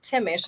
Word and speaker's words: Thimmesch: No, it's Thimmesch. There's a lot of silent letters in it.